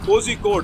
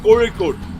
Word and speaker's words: Kozhikode: It is not Kozhikode as people try to read that. It's Kozhikode. It's Kori. That you cannot write in English. That's why we write Z.